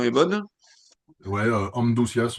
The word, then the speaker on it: Amduscias: Amdas, on prononce à la Ouais, je te prononce à la latine entre guillemets, vous savez.